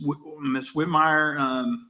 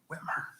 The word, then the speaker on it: Whitmer: Haggard, Miss Whitmire. No, I'm sorry. I think I said your name wrong. Did I? Or did I? Whitmer. I always get that wrong.